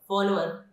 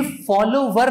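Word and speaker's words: follower: ये फॉलोवर नहीं है, इसमें डब्ल्यू साइलेंट है.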